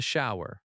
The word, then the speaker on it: shower: You might say, "There's a problem with the shower." There is becomes there's. There's a problem with the shower. Problem has stress on prob prob lem. Shower in American English sounds like show er. Two syllables, but smooth.